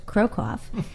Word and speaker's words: Krokoff: Scott Krokoff, pronounced Krokoff, is a practicing lawyer who never gave up